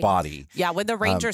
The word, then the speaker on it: Bodie: It's spelled like Bodie, but I think it's Body. It's Body.